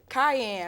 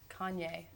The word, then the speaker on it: Kanye: You called him Cayenne.